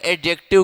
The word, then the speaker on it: adjective: देखो D silent रहता है, जब एडजेक्टिव को प्रोनाउंस करते हो तो वहां पे डी क्या रहता है, डी साइलेंट रहता है।